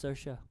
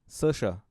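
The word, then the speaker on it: Saoirse: thought it's as s Ronan no no it's sersha sersha dude spelled so weird man yeah yeah it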